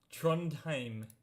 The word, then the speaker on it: Trondheim: Trondheim. That's how you pronounce it.